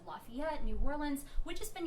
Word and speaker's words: Lafayette: 2 stops in Louisiana and New Orleans and Lafayette. I always say that wrong. You pronounced it right.